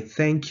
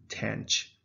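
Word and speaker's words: tanh: way you would say thank you okay the thank without the k that's how you pronounce it than and in america it is pronounced tanch it rhymes with the word ranch so that's the difference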